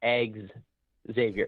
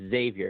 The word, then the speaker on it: Xavier: how you pronounce xavier it's not eggs xavier it's xavier i don't give a